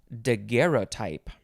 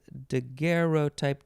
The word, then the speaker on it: daguerreotype: you next is daguerreotype you can pronounce this a couple ways de guerrero type de guerra type d i think that's a de guerre oh you can also say daguerreotype dagario type there's a few ways it is spelled because